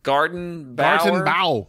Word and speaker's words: Gartenbau: for sending us what's this game Garden Bomb Garden bow spell it gartenbao g-a-r-t t come here yes g-a-r-t-e-n-b-a-u